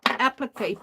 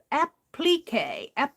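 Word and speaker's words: appliqué: it pqu and but she was really putting the a in there so it's app applique applique and she was using that she still said the a but she was putting the accent on the ple ple I think that's what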